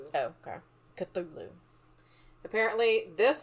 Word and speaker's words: Cthulhu: Apparently, this says that apparently in a letter Lovecraft said it was unpronouncable, but the closest you can do is Clulu with a bit of a gargle in the middle.